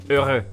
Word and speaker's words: heureux: and obviously the letter X isn't pronounced. So it's simple, heureux.